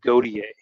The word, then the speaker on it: Gautier: this sure uh David how do you say his last name g g garti uh if you if you ask he said uh godier godier if you ask a Canadian how you'd say it it' be goer gotier